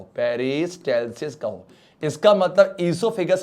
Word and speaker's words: oesophagus: एंड the answer is ईसोफेगस है। ओ silent है, पक्का ना, यहां कोई भी डाइजेशन नहीं होता, माउथ में हुआ था, सलीवरी एमाइलेज ने कॉम्प्लेक्स को सिंपल बनाया था।